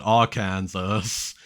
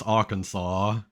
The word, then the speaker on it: Arkansas: meme is like oh why do they call it Kansas but they don't call it all Kansas like no it's Arkansas it's pronounced fully coolly